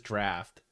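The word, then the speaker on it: Draught: is it is what it's still drought draw it's still spelled that I need I need the typ well it seems like uh at least uh OG pronunciation really is draft I didn't know guys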